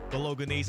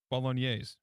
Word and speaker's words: Bolognese: Bolognese. Bolognese? Mm-hmm. Soft G.